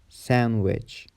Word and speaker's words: sandwich: The letter D is also silent in some common words like Wednesday, handsome, sandwich, grandma, grandpa.